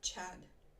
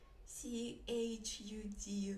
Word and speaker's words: chud: How do you pronounce c h u d then, if it's not Chad? Chod? Chud? Chud? Chud? It is the right in the first time.